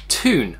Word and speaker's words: Thun: officially signed up for the Ironman Switzerland in Thun, I think is how you pronounce it.